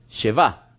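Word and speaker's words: שבעה: lágrimas en otras palabras ellos pronuncia se va se va en hebreo es siete y por siete días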